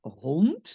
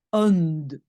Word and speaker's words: hond: Donc un francophone, il va dire: «Hij heeft een hond», hond. Mais hond, ça n'existe pas, c'est hond et donc c'est le D à la fin qui vraiment doit être prononcé t.